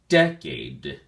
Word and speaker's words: decade: at your flash card decade has two syllables and the emphasis or stress is on the first syllable day and be sure to enunciate the last D sound as well so we say decade decade it is a